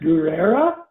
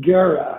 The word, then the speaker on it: Guerra: And your last name, is it pronounced Guerra or is it Guerra? I sometimes it could be either way. Yeah, no, it's the latter. So Guerra is war in Guerra, Spanish. Guerra. All right, Guerra, Guerra.